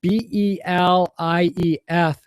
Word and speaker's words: belief: little different because um b e l i e f is belief which is a voic less sound if you notice my